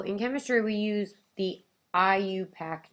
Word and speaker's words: IUPAC: ionic compounds so in chemistry we use the IUPAC name that's how you pronounce that and it stands for the international